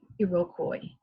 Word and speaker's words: Iroquois: So number 8, 6 groups eventually became part of in this word, do you know how to pronounce it? Iroquois nation. It's a difficult one, right? Iroquois nation.